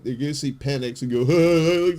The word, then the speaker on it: Penix: this year's draft and his last name is penix but he his name is penic but it's it's spelled p n iix okay that's terrible